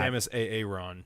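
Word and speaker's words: Samus Aran: don't know about aaron or iran or that samus a ron yeah there we go perfect um oh my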